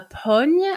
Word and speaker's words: pogne: It's called a pogne, I think is how you say it. P-O-G-N-E. Pogne? Pogne, maybe. Mm-hmm. Okay. Pogne would be like a punch. Like, it's don't punch you. It's like, you know, poignet, to punch somebody.